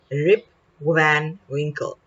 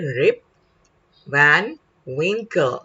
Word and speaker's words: Rip Van Winkle: the lesson we started rip van wrinkle okay rip van winkle we will pronounce the name correctly our learning outcome today